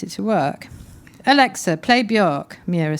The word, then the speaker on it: Björk: No, it's how you pronounce Björk. It's not supposed to sound like you just puked. Oh, whatever, Björk, Mira tutted and waved Elise away.